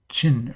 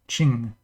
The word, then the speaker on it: Qin: When you see the letter Q, like this, Qin, Q is pronounced like ch in China in Mandarin, so it's like Qin or Qing, without like less G at the end, like more of a Qin kind of sound.